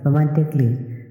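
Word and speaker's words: romantically: এন টি আই সি A double L ওয়াই রোমান্টিকলি মানে রোমান্টিক ভাবে এখানে সি এর পরে এই লেটারটি সাইলেন্ট থাকবে বি আর ই এডি ব্রেড মানে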